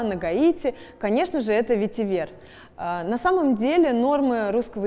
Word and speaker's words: ветивер: с этим словом нет многие люди говорят ветивер но я предпочитаю и многие люди из индустрии со мной согласятся ставить ударение на последний слог ведь и вверх как бы на французский манер спасибо что были с